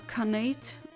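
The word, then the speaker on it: Khanate: very fun neighbor then the canate pronounced Kan and eight ah canate like the past tense of eat thank you for clarifying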